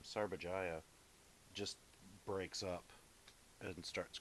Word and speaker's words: Sarbajaya: the Sarbajaya, that's how you say her name, Sarbajaya, just breaks up and starts crying when she's